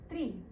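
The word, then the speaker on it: три: Tri. Repeat after me. Tri. This is similar to the English word tree, but you roll your R's a little more.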